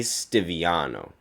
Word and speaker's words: Stiviano: Stiviano. Yes, that's how you pronounce the name.